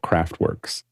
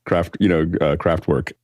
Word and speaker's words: Kraftwerk: And for those listening to it, we now have a pristine pronunciation of what Americans will call Kraftwerks. Like that's the Kraftwerk, not Kraftwerks, but Kraftwerk.